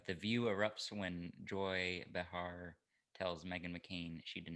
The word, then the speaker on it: Behar: the view erupts when joy bahar tells behar behar yeah she's very offended if you don't say it right i'm gonna say it